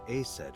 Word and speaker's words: Isis: And Isis sounded like Aset in ancient Egyptian, which is where your stage name comes from.